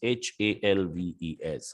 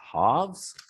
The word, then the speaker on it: halves: know the pronunciation here so l is silent it becomes h a l v e s halves c a l v